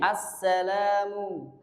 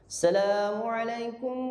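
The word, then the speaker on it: Assalamu'alaikum: Assalamu. Assalamu. Ini pengucapan salam itu khusus yang imam. Ini biasanya saya temui ketika saya jadi makmum itu hamzahnya hilang. Betul. Asalamualaikum warahmatullah. itu asalamualaikum. Nah, ini yang harus dibiasakan.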